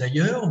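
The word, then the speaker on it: Haier: exemple c'est l'entreprise ailleurs donc ailleurs ça s'écrit H a I e r pas comme ailleurs oui exactement et sinon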